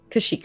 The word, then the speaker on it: Kashyyyk: Is it Kashiak? Is that how you say it? You're currently in, you're with Bryn right now, But Yeah, tell him, I know. Yep. Is it in Kashyyyk? Kashyyyk? Kashyyyk, okay.